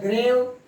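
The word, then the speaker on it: grave: ग्रेव, इसका किसी भी वर्ड में अगर ई लास्ट में आता है तो ई का प्रोनाउंसिएशन नहीं होता है।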